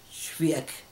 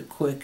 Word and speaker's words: Cwiek: So I changed it to Cwiek, and I figured, well, C, a hard C like in the word cat, the W, pronounce it as a W, I, pronounce it as